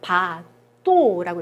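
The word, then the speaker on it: bateau: 으는 오로 발음이 났어요. 그래서 바또라고 읽으시면 돼요.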